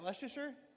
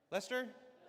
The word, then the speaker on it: Leicester: How do you say, is that Leasher? Lester. Lester.